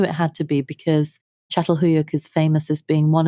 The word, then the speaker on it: Çatalhöyük: pronounce the name of it. There's a lot of accents on almost every letter. Çatalhöyük.